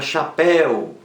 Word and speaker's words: chapéu: acento e da palavra chapéu chapéu oxítona também e eu na última sílaba chapéu aberto leva acento também então você vem facilmente